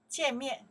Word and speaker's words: 见: 见面. Okay. To meet up. 见面. To meet with. 见面. Okay, that's the character pronounced 见. 见. From the 再见的见.